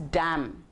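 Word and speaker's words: damn: When I यूज़ the word डैम, मुझे लग रहा है मैं डी ए एम डैम बोल रही हूँ लेकिन वो शब्द है डी ए एम एन. सो एम एन, एन उसके साथ जुड़ा हुआ है लेकिन हम उसको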